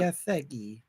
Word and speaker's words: Gathegi: Gathegi.